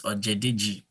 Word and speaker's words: Ojedeji: So to pronounce my name is pronounced. That's my first name, and the surname is Ojedeji, Ojedeji.